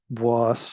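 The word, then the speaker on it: Bois: Isle becomes the fictional boss Savage um I know it's looks like it's spelled b-o-i-s as boys uh but it's French the francaise um you know as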